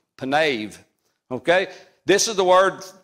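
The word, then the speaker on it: פָּנָיו: read Hebrew it's a penave ends with a V penave okay this is the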